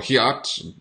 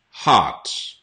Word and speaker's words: heart: Or hiat, hurt. Heart. Sounds very similar to art. Okay? There's a lot of interesting art in this house. Art. Just add an H sound there.